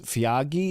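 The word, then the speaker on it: Feagai: So Jake Avarillo reverts to the centers and Max Fiagi, is how you pronounce it, to the reserves.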